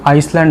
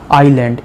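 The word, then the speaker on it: island: এস এল এন ডি এটাকে উচ্চারণ কিন্তু আইসল্যান্ড হবে না আইল্যান্ড এস টা উচ্চারণ হবে না তাহলে দ্যা আন্দামানস দ্যা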